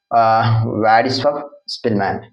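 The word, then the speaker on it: Władysław Szpilman: So Vladislav Spillman, pronounced as Vladislav Spillman എന്നാണ്.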